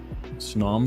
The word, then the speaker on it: Snom: nom nom nom uh snom to rhyme with nam I like it I